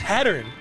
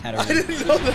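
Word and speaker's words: Hatterene: do you pronounce that what hatterine I thought it was hatteren no it's had around whoa It's a bike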